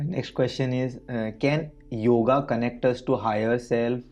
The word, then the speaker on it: yog: one so you see when we write the yog in English language technically we have to add the a but a is silent there because many people are not really well trained uh in the language so they they read it yoga it is not yoga it is yog like when you write